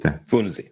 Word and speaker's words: Funzi: How do I pronounce it? Funzi.